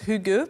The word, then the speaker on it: hygge: game correctement fugue alors effectivement le prononce rugueux parce que c'était un écossais qui vivait au danemark qui m'a appris à le prononcer et d'ailleurs ça veut bien dire toute la douceur que comporte ce concept de cet art de vivre de bien vivre puisqu'en fait il me disait il faut le prononcer comme si tu allais déposer un bisou sur la joue de ton voisin où ta voisine donc voilà quels sont